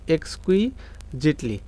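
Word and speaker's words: exquisitely: dash এখন এইটার যে উচ্চারণ এই উচ্চারণটা কিন্তু অনেকে পারে না এটার উচ্চারণ হচ্ছে এক্স কুই Jaitley clear এক্স কুইজেটলি design building এখন এই জায়গায়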